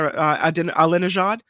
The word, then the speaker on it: Alinejad: And this report, was that for pronouncing the Alinejad?